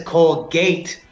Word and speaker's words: Colgate: The E on the end, the silent E, its purpose is to modify the sound of the vowel that comes before it.